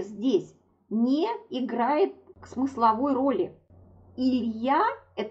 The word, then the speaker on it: il y a: Звук «и» оказался рядом с другим гласным звуком. И тогда он, как я говорю, съеживается до звука «е». И получается, что нужно это произносить «илья».